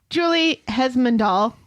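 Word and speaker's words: Julie Hesmondhalgh: good job and finally Julie hesmond all is that how you say her name yes no R Haley has a new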